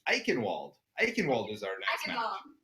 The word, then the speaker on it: Eichenwald: I know you already told me it's Eichenwald. Eichenwald is our next map. Eichenwald. See, again, it has a W, so you would think it's Eichenwald, but I guess you're right.